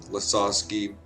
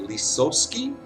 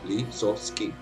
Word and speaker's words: Lisowski: And the Dutch look at my last name and go, Lisowski? Yep. Because they literally pronounce it with the Dutch vowels. L-I-S-O-S-K-I. Lisowski.